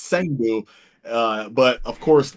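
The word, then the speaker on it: Cang Du: I used to call him Kangdu, Chengdu, but it's Sangdu.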